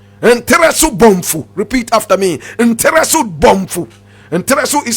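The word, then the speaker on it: Ntereso-Bonfu: Nteresu Bomfu. Nteresu is spelled N-T-E-R-E-S-O hyphenated B-O-N-F-U.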